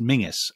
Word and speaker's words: Menzies: his name interestingly so it's obviously a scottish surname which scots will will tell you is pronounced mingus and he would have